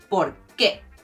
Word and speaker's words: porqué: the words a bit: ¿por qué? El porqué Ese porqué no es suficiente. Here you emphasize the qué again, but you do not separate the sounds: el porqué.